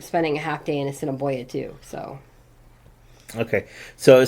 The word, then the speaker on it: Assiniboia: Some people would say asinine boy, and it's like, no, it's Assiniboia.